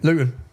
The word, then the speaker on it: Luton: And so, anyone, if you don't understand Luton, Luton, see I pronounced my T there. We don't pronounce our Ts. I've done that for you. How do you say it? Lugan.